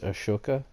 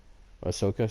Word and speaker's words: Ahsoka: and then they introduced ashoka ahsoka sorry i get the actual indian pronunciation because it's indian word they took um by